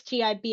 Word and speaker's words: GIB: I know I had a little bit of a blunder at the beginning and pronounced it a different way um towards a certain business school, but uh you corrected me and said no, it's GIB insurance.